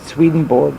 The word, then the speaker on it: Swedenborg: relaxation visualization and concentration swedenborg I've heard it pronounced Berg it's not it's board it's swedenborg Emmanuel swedenborg he had tremendous psychic power and he believed